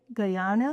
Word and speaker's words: Guyana: Guyana.